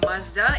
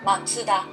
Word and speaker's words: Mazda: can you pronounce it i'm sure this is called mazda in english so it's the same english we just called mazda yeah this is like japanese pronunciation because it's called matsuda because there is nothing